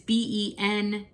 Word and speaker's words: Bencharki: was Amanda Bencharki, and I don't think that's how you pronounce her name. It is Benchari.